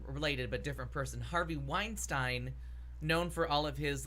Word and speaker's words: Weinstein: Harvey Weinstein yeah okay you're saying Weinstein yeah it's because herb Weinstein was like the main anchor on the Buffalo news and I do that's how I hear it pronounced well anyways there was